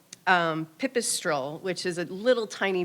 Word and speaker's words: pipistrelle: And then the eastern pips-- I'm gonna say it wrong, pipstrelle. Pipistrelle, which is a little tiny bat that likes